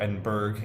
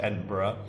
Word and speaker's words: Edinburgh: We had our field trip to Edinburgh, or Edinburgh if you say it how it's spelled, but it's pronounced Edinburgh.